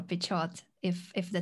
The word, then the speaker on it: Pichot: certain let's just say peach oat peach oat i think the the emphasis is on the second syllable that's for sure pichot if if the t